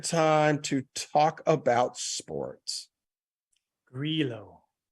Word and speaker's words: Grillo: benign and easy as like a guy's name pronunciation that you get wrong. So I always do that. And again, anyways, it's Grillo.